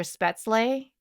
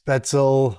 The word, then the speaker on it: Spätzle: She incorporated the sausage into her spätzle. Everyone kept pronouncing it spätzle. Spätzle.